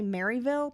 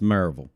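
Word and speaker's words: Maryville: say it correctly because when you say mville people in Tennessee are like it's merville they get very upset it's marville it's marville high school student Joanna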